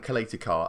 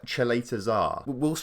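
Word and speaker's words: Čaleta-Car: Apparently I've been saying that completely wrong. I've been calling him like, well, look here, look. To me, that's Duj Kaletakar. Apparently, he's Croatian, obviously, so it's pronounced completely differently. And apparently it's more like, according to this comment here, Duja Cheletazar. We'll see.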